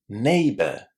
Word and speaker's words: neighbor: Neighbor. Neighbor. So, this word has only two syllables and the first one contains the a sound just like the first letter of the alphabet in English.